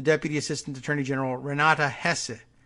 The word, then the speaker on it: Hesse: Assistant Attorney General Renata Hesse Hess Hess a does she pronounce like Germans do who is head of